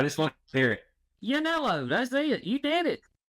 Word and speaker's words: Yannello: Yannello, that's it.